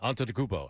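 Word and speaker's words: Antetokounmpo: And he was like, "Say after me, Anton Dubo."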